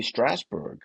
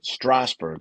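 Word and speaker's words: Strasberg: Uh, cuz Renee was a member of the Actor Studio in New York under Lee Straber. So, or Strawber, sorry, I want to say that name wrong.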